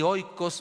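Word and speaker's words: οἶκος: pasaje fue la palabra oikos, o oikos, se pronuncia oikos, se escribe oikos.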